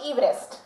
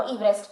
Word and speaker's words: Everest: His correct pronunciation is George Everest.